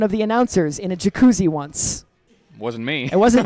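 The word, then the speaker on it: Jac Cuzzi: Jacuzzi. It says also that the first Z is silent, so Jacuzzi, but one Z only.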